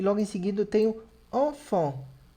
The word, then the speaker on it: enfant: E logo em seguida eu tenho enfant, que é criança. Duas vezes som de en.